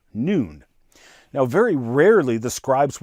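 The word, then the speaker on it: נון: bad joke it was a Hebrew letter pronounced with a long o like noon here you can see one of my historic Scrolls Taurus scrolls with the letter noon now very rarely the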